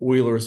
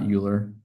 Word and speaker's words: Euler: We're going to use these three tail polinomials to give us what's called Oilers's formula. And yes, it is pronounced Oiler, not Euler.